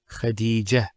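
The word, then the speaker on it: خديجة: I actually pronounced the ta marbuta as a ha. Medina, Khadija.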